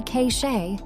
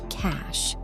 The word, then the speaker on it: cache: Don't say cache. It is pronounced exactly like the word for money, cash. For example, clear your browser cache to free up space.